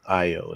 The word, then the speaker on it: Ayo: Ayo is actually how her first name is pronounced.